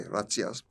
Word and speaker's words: razzias: In the Netherlands, they were known as razzias. How do you spell that? R-A-Z-Z-I-A-S. It's pronounced like the Italian way, razzias.